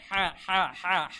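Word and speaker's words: ح: আর শুদ্ধ কোনটা তাই আমাদের এটা বলতে হবে হা গলার ভেতর থেকে একটু গলার মধ্যে প্রেসারাইজ করে চাপ দিয়ে হা এভাবে আমাদের উচ্চারণটা বলতে হবে হা তারপরে এটা দেখুন কিভাবে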